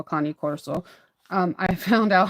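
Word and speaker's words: Cane Corso: corso or Kan Coro actually I've been saying it wrong this whole time but I'm going to continue to call it K Corso instead of a con Corso um I found out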